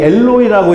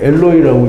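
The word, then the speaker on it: אֱלֹהֵי: 근데 다 일일이 415를 풀어두면 뭐냐면 엘과 엘로힘과, 이 엘로이라고 읽는데요. 힘이 아닌데 엘로이라고 읽고요. 그 다음에 사멕 이스라엘이라고 그렇게 읽는데요.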